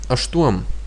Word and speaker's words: aštuom: Now aštuom, you see again that it's not like pam, sham. It's not asham because it's difficult to say. So basically we use the aštuom.